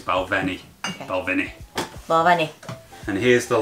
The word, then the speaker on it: Balvenie: Most people say it Balvini, which is a very English way of pronouncing it, but it's Balvenie.